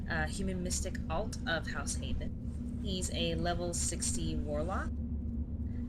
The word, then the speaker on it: Haethon: And I am pronouncing that correctly, am I not? Yes, House Haethon.